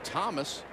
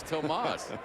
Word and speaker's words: Tomas: quiet and soft spoken when everybody started pronouncing his name Thomas. He started calling himself Thomas. Finally, Jim Morris said, if your name is Tomas, tell him your name is Tomas.